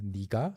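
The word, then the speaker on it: 네가: I personally don't call uh my my wife or address my wife as nika even though she's younger. Um, nega is the spelling. Nika is the pronunciation.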